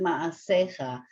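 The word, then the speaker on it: מעשיך: But with the yud, it just makes it ma'asecha. Oh. Just a little bit longer.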